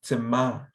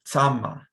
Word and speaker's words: tsema: And sometimes people will pronounce it tsama. Tsama. Tsama. Kind of like a kind of like they have the word tsa in there. And instead of saying tsema, they'll say tsama.